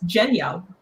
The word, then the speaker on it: Genya: Genya from Shadow and Bone. Yeah. Fun fact, it's Genya.